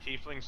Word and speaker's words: tiefling: Tieflings like tieflings, but like, I don't know. They are both approved pronunciations.